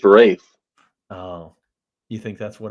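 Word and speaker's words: Ralph: him why the is it pronounced Rafe oh you think that's what it was yeah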